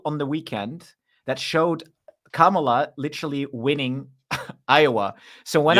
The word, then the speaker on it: Kamala: if if you're a Camala supporter Kamala I think we should say it properly Kamala supporter we you